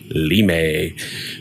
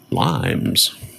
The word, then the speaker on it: Limes: copy of limes where as is apparently correctly pronounced lamay which is a defense structure in I believe in Rome or Greece to defend against the barbarians but with all the farming games out I thought limes was your crop instead of wheat or hay